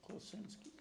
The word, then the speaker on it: Klosinski: contingency, and then This one would be Klosinski, is that how you pronounce it? Klosinski, yep.